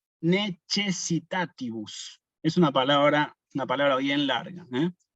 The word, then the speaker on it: necessitatibus: Primero, necessitatibus, tilde en la antepenúltima sílaba, necessitatibus, y la C con la E la pronunciamos como che. Necessitatibus, nunca necessitatibus.